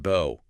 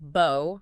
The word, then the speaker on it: bow: It could be pronounced bo rhyming with go. That's the verb meaning to bend at the waist like showing respect. And it can be pronounced bow rhyming with now or cow.